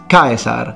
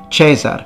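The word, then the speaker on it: Caesar: find in ecclesiastical latin we know it's kaisar not chesar because we again have many grammarians and authors lamenting the fact that in the rustic non-urban version of latin people are starting to pronounce the i as a simple air and they tell us that that's not the proper way of speaking so our legionary that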